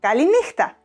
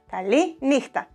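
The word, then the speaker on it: καληνύχτα: Kaliníchta, Kaliníchta.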